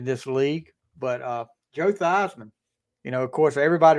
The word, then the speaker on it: Theismann: of people don't realize his name is actually Joe theseman but he changed at the Theisman in college to rhyme with Heisman because they were pushing